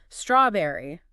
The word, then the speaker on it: strawberry: Strawberry, blueberry, fig. And with strawberry, make sure that stress is right at the front. Strawberry. A nice clean emphasis on that first syllable.